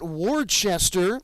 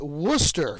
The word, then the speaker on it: Worcester: call it norfolk and then it is not warchester what's the it's worcester so it was the norfolk tides in a